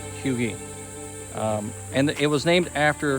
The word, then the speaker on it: Huger: I thought it too it's spelled h-u-g-e-r I thought Huger I was wrong according to the sign it's pronounced hugee and it was named